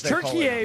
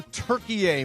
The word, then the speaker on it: Türkiye: Is Türkiye basically Turkey, and we just changed the pronunciation?